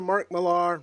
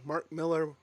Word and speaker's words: Millar: another image book another Mark Millar Mark Miller however you want to say his name he said both pronunciations are are right depending on where you're from but space bandits so